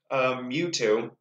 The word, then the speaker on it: Mewtwo: But either way, we see a Pokemon that I know, Mewtwo, who, am I pronouncing that right, expert?